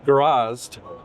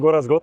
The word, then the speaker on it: Gorazd: Gorazd. Say it correctly? Correct. Okay. Introduce yourself and who you're with, and then we'll talk about this cool thing. So I'm Gorazd.